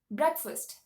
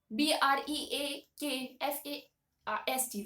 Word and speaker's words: breakfast: s t right so technically we'll say that it is break and fast so we uh so uh commonly we pronounce it as break fast right but the actual pronunciation of this word is breakfast all right it is not called breakfast it's breakfast breakast breakfast okay if you want to